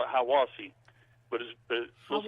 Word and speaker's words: Hiawassee: Hiawassee, we call it Hiawassee, but it looks like it would be pronounced Hiawassee.